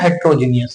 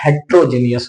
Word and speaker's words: heterogeneous: हेट्रोजीनियस होता है।